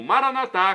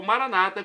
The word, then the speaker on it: Maranata: E agora, do aramaico para o português, eu clamo Maranatá, como dizemos nós católicos, ou Maranata, como dizem nossos irmãos evangélicos ou protestantes. Não importa a pronúncia, o significado é o mesmo.